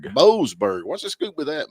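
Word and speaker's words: Boasberg: Boseberg. Boseberg.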